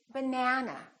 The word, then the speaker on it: banana: That means this vowel is going to be much longer. Repeat, banana, banana. So the a is going to be prolonged.